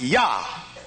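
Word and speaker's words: יה: dots one over the other and it is pronounced yah and when they pronounced the word they would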